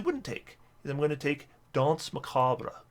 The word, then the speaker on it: Danse Macabre: take I'm gonna take Danse Macabre it's not what how it's pronounced Danse Macabre so now we're taking